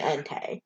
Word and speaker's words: Entei: it because it was suicune and raiku and entei yeah yeah and yeah sorry i just stole all these those are all correct um but somebody was like no it's it's raikou sweet raico entei yeah and i was like oh sure like